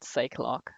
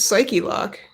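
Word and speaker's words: Psyche-Lock: it psyche or psychology i've always pronounced it cyclock i think it is probably psyche lock or something like that yeah it's psyche lock hey nick what is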